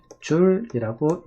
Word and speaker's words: 줄: 자, 이것을 우리는 또 줄여서 뭐라고 얘기하냐면은 J라고 쓰고 읽을 때는 줄이라고 읽게 돼요.